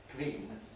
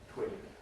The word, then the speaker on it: twin: Hungarians and various others tending to make it a V with the labod dental base of articulation. That's twin rather than the bilabial labial va articulation that we use in English. Queen twin. Of course, this is like other W sounds similar to a kind of oo vowel but shorter.